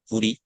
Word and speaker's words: Foodie: This is the name of my dog, Foodie. Is pronounced like Foodie like this, and it is a cute word for raccoon in Korean.